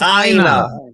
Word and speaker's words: Aina: It's Aina. Aina. As in mirror in my language.